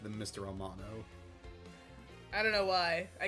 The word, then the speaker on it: Amano: I think we both keep pronouncing it Armano. It's just like when you're saying it quickly, your brain wants to say that.